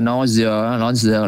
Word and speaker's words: nausea: Chữ nausea là nôn ói, thì anh em đọc giống nói gì quá. Nausea, đọc hết chuyên chữ cũng được.